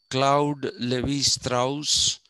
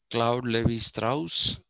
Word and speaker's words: Claude Lévi-Strauss: Claude Lévi-Strauss and Roland Barthes. That's how it is pronounced. Claude Lévi-Strauss and Roland Barthes.